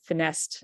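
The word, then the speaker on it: FINESST: and technology or finest I think some people pronounce it finessed I've always pronounced it finest uh fellowship and and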